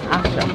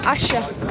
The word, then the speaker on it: Asha: And I only just found out that you actually pronounce your name Asha. Asha. Like Asia.